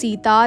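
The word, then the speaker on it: Sinta: we have so here C इज not pronounced as सीता इट्स सिंता the spelling that we have in इंडिया इज एस आई टी ए बट in Bali it's एस आई एन टी ए आई एम not gonna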